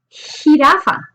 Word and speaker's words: jirafa: J. Sounds like an H. Suena como una H. J. Jirafa.